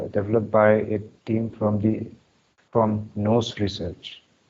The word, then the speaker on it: Nous: Now this was developed by a team from NOS Research. It is pronounced as it is spelled as NOUS, NOS Research.